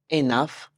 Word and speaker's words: enough: Now doctor almost there enough rhymes with Tough Enough rhymes with Tough